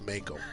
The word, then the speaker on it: Mako: pronounced Mako.